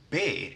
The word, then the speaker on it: B: And then we have B, which is pronounced be in Swedish.